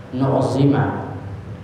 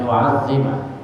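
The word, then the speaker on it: نُعَظِّمَ: Bisa saja kita bacanya nu'zima, tapi kalau dibaca nu'zima itu kurang pas, dibacanya nu'azzima.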